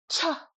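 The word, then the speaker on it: ཆ: If you guessed cha cha you're completely correct. Cha. High tone and way too hard.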